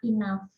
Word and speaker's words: enough: Nah, terus yang ketiga kayak enough itu cukup ya, tulisannya memang enough tapi bacanya enough. Kadang kata kalau bahasa Inggris itu belakangnya adalah GH, dia kayak jadi F.